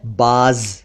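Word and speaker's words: بعض: तो बाज, उसका उच्चारण थोड़ा सा डिफरेंट होता है। अरबी स्टाइल में बाज कहते हैं, लेकिन जनरली उसे भी बाज कहते हैं।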